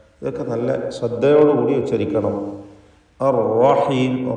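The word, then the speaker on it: الرحيم: അർ റഹീം, റാഹിനെ തടിപ്പിക്കണം. അവിടെ ഷദ്ദുള്ള റാ ആയതുകൊണ്ട് വിറയൽ വരാതെ അർ എന്ന് വിറപ്പിക്കാതെ ശ്രദ്ധിക്കണം. അർ റഹീം, ലഹുവൽ അസീസുർ റഹീം.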